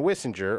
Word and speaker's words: Wissinger: Stephanie and Wissinger rhymes with Kissinger.